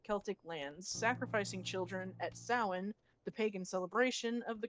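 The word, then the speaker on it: Samhain: from his native Celtic lands sacrificing children at sowin the Pagan celebration of the coming winter which we established last night was not the proper that one it's spelled Sam Hein s-a-m-h-a-i-n they pronounce it as Sam Hein in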